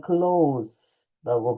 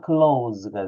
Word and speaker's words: close: 가까운이라고 하는 형용사는 클로라고 발음하시면 되겠고요. 동사로는 close가 되죠.